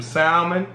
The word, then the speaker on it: salmon: my salmon I I I have a real bad habit of putting the ale in Salmon so I have some salmon salmon I always say salmon too I know I for years it was a habit I've been pronouncing the Al and salmon since I was [